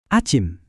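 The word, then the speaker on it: 아침: Kalau pagi adalah acim.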